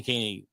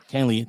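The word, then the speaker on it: Kahnle: a video on Tommy Caney. Jesus Christ. Tommy Canley? Canley, thank you. I did say it right.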